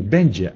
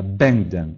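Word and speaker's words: będę: Вот читается не «бенджи», а «бенден», «буду», «я буду».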